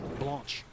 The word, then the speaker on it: Blanche: You might see on the back of her jersey, she has Blanche, that's her given name. And Elise is her middle name. She goes by Elise more often, but correct pronunciation, Blanche.